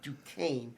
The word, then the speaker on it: Duquesne: He actually led an attack with against the French stronghold of Fort Duquesne, which later became the city of Pittsburgh.